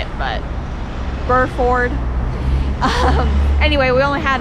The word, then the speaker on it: Burford: today okay so i probably said it wrong before it's burr ford okay i still can't say it but burr ford um anyway we only